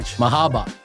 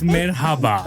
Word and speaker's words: merhaba: Nicko Necto hey and an Mahaba it's merhaba merhaba sorry did I pronounced